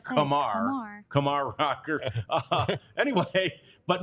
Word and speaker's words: Kumar: the same thing I I went back to my old school pronunciation it's Kamar Kamar rocker uh anyway